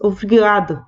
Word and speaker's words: obrigado: En la pronunciación, esa primera O se pierde, casi no aparece. Es obrigado, obrigada.